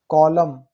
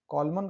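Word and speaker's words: column: देखिए कॉलम, एम के बाद एन आया है यहाँ पे, कॉलमन कहाँ पढ़ने से, only कॉलम, autumn, haem, कंडेम, कंडेम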